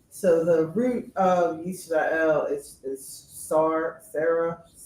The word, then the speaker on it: Yisrael: Yisrael as far as instead of Yasharel or Yasharal. Yeah. Just the fact that the root words there lend to Yisrael, not Yasharel or Yasharal. Those are just made up pronunciations for Israel, Yisrael.